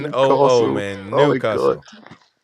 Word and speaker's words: Newcastle: It's N-U. Ain't no R in Newcastle. It's NOO, Newcastle.